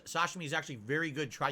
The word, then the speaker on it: sashimi: Now, when I say this, I mean actual sushi, not sushimi. Like sashimi, or as I pronounce sashimi.